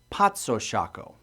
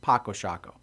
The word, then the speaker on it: Paco Sako: it means peace chess the proper pronunciation is and I hope I get this right potso Shaco but I think the makers got tired of correcting people so the common pronunciation now is just Paco Shaco this game was created